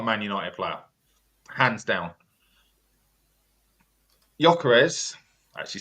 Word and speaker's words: Gyökeres: Gyökeres, actually said it right for once, couldn't cut it in the Championship in the most physical league.